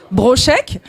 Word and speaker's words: Brochec: Bonsoir tout le monde, je suis Brochek, donc mon s'écrit K-R-I-2-S et Brochek, B-R-O-C-H-E-C.